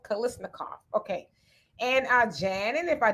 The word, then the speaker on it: Kalashnikov: Kalashnikov. It's not said how it's spelled. Kalashnikov.